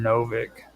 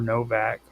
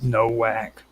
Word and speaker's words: Nowak: And I'm going to be talking about Martin Novak, or Novak. It's spelled with a W, which I used to always call him Nowak, German sort of thing, yeah.